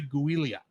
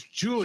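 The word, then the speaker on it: Giulia: Julia for the triathlon every time I see Julia's name because it's spelled g i l u u l I keep want to say guia that makes sense but her name is Julia Julia Julia Italian fun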